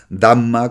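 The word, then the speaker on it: धर्म: budismo que es dharma dharma es eh Cómo se dice en sánscrito damma como se dice en pali es decir está muy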